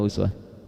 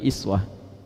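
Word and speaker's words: أسوة: Kalau Anda main ke sebagian negara di Timur Tengah, mereka bacanya iswah. Baik. Riwayat Warash Qalun bacanya iswah. Di Libya dibaca iswah. Di Maroko iswah. Aljazair, ya, daerah-daerah Afrika Utara bacanya iswah.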